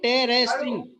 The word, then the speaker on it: interesting: कई लोग बोलते हैं इसको इंटरेस्टिंग, अभी आप ही लोगों ने पढ़ा है, आपको पता है ना where you need to focus. You have to focus on द first syllable. There is a 4 syllable. Level. Interesting. There is a 4 syllable, but you have to focus on the first syllable in this word.